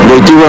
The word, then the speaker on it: Wojtyła: había aceptado ser Juan Pablo II le dijo Wojtyła en polaco. Por eso cuando se asoma y dice Dominum Karol Wojtyła, la gente empezó a creer que era un papa negro por el nombre Wojtyła se empezó a correr enero desde aquí, desde